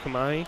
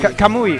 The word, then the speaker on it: Kamui: we got this hold on hold on K Kumai Kumai Kumai Kumai kamui kamui that's what it was okay I was